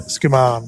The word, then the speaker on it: Skuman: So it's pronounced Skuman, is it? Yeah, Skuman, yep.